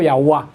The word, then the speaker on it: Yahweh: Entonces llegaron a la conclusión que se debió, pero es una suposición, haber pronunciado Yahweh.